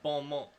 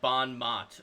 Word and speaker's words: bon mot: But I can at least pronounce bon mot. And not say, like, bon mot or something like that.